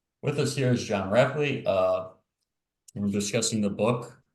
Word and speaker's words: Rapley: if I'm wrong but your last name is pronounced rapley that's right that's right okay with us here is John rapley uh we're discussing the book why Empires fail